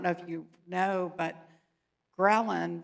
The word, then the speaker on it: ghrelin: But I'm writing a book right now, and I don't know if you know, but ghrelin rhymes with Ellen, but it's the hunger hormone, and it's the one thread that has in common for all treatments of obesity.